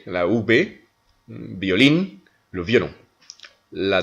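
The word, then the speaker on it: violín: Nous avons par exemple violin, violin, le violon, violin, on prononce donc comme si c'était un B.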